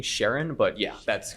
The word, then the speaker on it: Charon: I always thought it was pronounced Karen as well. It's technically Sharon, but yeah, that's correct.